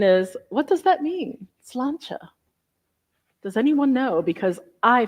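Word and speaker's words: sláinte: have to check I have to check my salanta that's how you say it salanta and the milon question is what does that mean slancha does anyone know because I forgot to look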